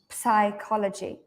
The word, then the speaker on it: psychology: from Greek and so native English speakers have changed the pronunciation because we don't have this P like at the beginning of a word we have it at